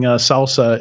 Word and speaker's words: SLSA: And then for those listening, Salsa is SLSA. Yeah. Yeah. It just sounds like salsa, but it doesn't not spelled like salsa.